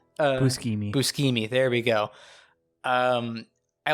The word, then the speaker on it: Buscemi: say his last name brett buscami no it's buscemi there we go um